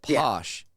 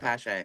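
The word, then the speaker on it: Paasche: Yeah, like, well, if you like go to Amazon and you like top rated stuff, of course Iwata's there, but Posh, it's also sold at a lot of the hobby stores.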